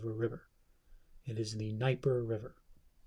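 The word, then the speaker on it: Dnieper: river it is the niper river the D is silent sniper so apologize for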